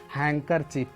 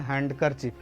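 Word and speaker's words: handkerchief: तो जैसे हम देखते हैं हैंकरचिफ। हैंकर में अब बहुत सारे लोग इसका प्रोनाउंसिएशन, इसका उच्चारण गलत करते हैं, हैंडकर बोलते हैं, हैंडकरचिफ। हैंडकरचिफ आपको नहीं बोलना है, हैंकरचिफ बोलना है।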